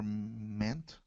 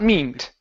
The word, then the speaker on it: meant: me S people were meant me not meint okay once you add that t on there it's it makes that that a short e sound e me okay without